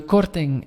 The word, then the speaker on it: korting: And the korting would be a discount. Korting, N and G you will pronounce as like in English, like wing, sing, king, thing, and so on.